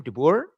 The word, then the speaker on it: de Boer: But first, I just want to make sure that de Boer, is that the correct pronunciation of the last name, de Boer?